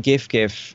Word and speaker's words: GIF: Would you say that GIF, I'm guessing that's how you say it, it's not GIF, please tell me it isn't GIF.